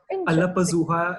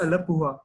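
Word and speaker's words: Alappuzha: So it's not Alapazuha, it's Alapuha. Interesting.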